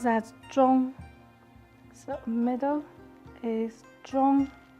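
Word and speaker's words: 中: with a bar in the middle and they pronounce that john middle is john second character is autumn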